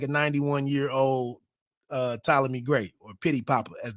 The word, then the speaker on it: Ptolemy: But it's just a shortening of his name with the Ptolemy. Sometimes the P is silent, but that's where pity for PT, for that PT in his name.